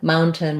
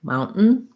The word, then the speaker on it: mountain: mountain with a t most of the time native speakers are going to say that like mountain mountain where they're going to make a stop t so that makes that n short and then just another n so i have an